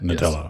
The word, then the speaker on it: Nadella: Satya Nadella? Satya Nadella. Nadella.